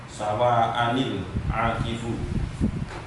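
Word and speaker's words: سَوَاءً الْعَاكِفُ: Jadi cara membacanya, walaupun nun kecil itu tidak berharokat, tetapi wajib dibaca kasroh, ya. Jadi wajib ketika membacanya untuk dibaca kasroh.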